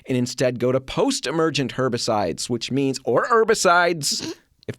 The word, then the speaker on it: herbicides: I've always said herbicides, but I can imagine there's somebody saying, no, you don't pronounce the H. You don't say the H. Yeah, it's herbicides.